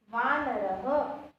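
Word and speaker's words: वानरः: Here the 2 dots is called a visarg, that I have already explained in the Chitrapadani word, right? And it pronounced as ha. Shashakaha, Shrugalaha, Vanaraha, Sinhaha. It pronounced according to the last vowel, right?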